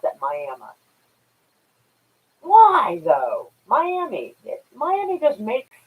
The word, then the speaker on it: Miami: Everybody in the fucking planet will call that Miami, but here in Oklahoma, we actually pronounce that Miami.